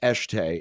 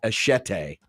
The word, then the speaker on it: Eschete: The only thing that I wish, so her last name is pronounced Eshte. It's spelled Eschete. I wish her name was pronounced Eshete, like machete. Like machete?